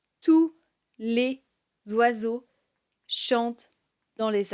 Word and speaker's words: tous: et je les ai tous vus partir. Ils sont partis et je les ai tous vus partir. On prononce le S de tous car ici c'est un pronom. Il n'est pas suivi d'un nom.